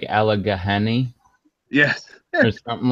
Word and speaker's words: Allegheny: I was like, look, it's nothing like the way it's spelled. It's an Indian word. Like they just go with the way people say it.